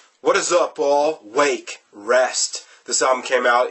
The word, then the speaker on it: Rwake: sludge metal and yes their name is pronounced wake and not our wake and there is a